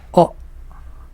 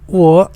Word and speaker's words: を: Nah, jadi di sini ada partikel O. Partikel O ya. Nah, ini walaupun wo, namun dibacanya O. Khusus untuk partikel ya.